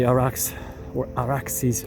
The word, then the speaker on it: Arax: Ararat, right by the Araxes River, using the Persian, Akkadian, Sumerian pronunciation. It's Arax, but the derivation is much more ancient.